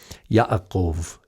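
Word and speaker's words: יעקב: this way in english in hebrew it's yod ayan kuf bet in a vast majority times we we have the vocalization like this ya'akov ya'akov but sometimes it is spelled ya'akov with uh hollam and the vav the whole vav is there ya akov yakov not a big deal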